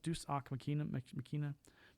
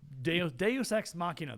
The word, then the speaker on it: Deus Ex Machina: Deus Machina? Oh boy. Deus Machina. Whatever that word is. I'm something like that. Yeah. Deus Ex Machina.